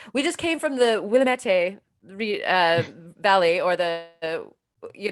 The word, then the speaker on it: Willamette: have the river uh the willamette but the people some people kind of mispronounced that um i've heard willa william william it will amante the willamette yes people like they'd